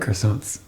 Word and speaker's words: croissant: I like croissants. You're mispronouncing that. Croissant. Croissant.